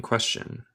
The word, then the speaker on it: question: Es como este TSH.